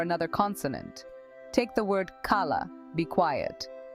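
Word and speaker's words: calla: consonant take the word kala be quiet the first L is silent so you pronounce it as Caya another example is Sal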